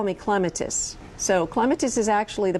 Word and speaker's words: clematis: way it goes is just because I grow on a lattice don't call me clematis Mr Webster as in Webster's Dictionary Mr Webster won't cease to hiss until you call me clematis so clematis is actually